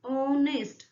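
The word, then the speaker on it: honest: ऑनेस्ट आप देखेंगे एच जो है यहाँ पे एच हमारा साइलेंट हो जाता है। सो आप प्रोनाउंस करते हैं ऑनेस्ट।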